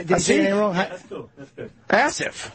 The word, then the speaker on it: Asif: Asif Kapadia. Asif Kapadia. I'm going to go with that. Is that it? No, it's Asif. How did he say it? Asif?